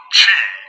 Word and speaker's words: qi: Qi, pronounced Qi, is a Chinese word for the life force energy that flows throughout the body.